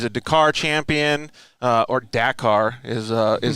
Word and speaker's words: Dakar: motorcycle champion he's a dakar champion uh or dakar is uh is how you say it right